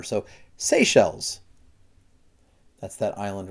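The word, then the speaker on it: Seychelles: to pronounce this one SE shells so it's kind of like you're saying the word say and then shells like shells in the water so SE shells that's that Island right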